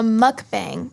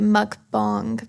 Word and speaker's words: mukbang: What is a mukbang? Or some people pronounce it a mukbang, but I say mukbang. A mukbang, I pronounce it mukbang.